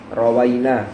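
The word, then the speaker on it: رَوَيْنا: Abi thb radihiallahu Anhu rowaina bukan rwaina ya keliru saya tadi bacanya Anna maknahu bahwasanya maknanya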